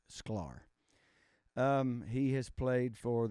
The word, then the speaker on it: Sklar: guitarist his name is Leland scolar I think is how you say his name SCAR or I think it's sklar um he has played